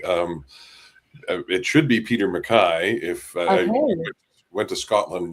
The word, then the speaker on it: MacKay: Uh and I butchered my name regularly actually. Um it should be Peter Mcai if went to Scotland not long ago